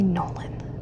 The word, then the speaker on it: Nolan: And I will say, I'm from the Midwest, so I'm gonna say Nolan. But down here in Kentucky, it's pronounced Nolan. They literally call it Nolan Lake. Like, that's one syllable, but okay.